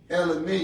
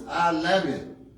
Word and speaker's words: Alamin: Elamine is saying it wrong. It's Alamin.